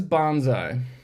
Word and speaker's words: bonsai: What is bonsai? I pronounce it like a Southern Californian. It's technically bonsai, and it loosely translates to tree in pot.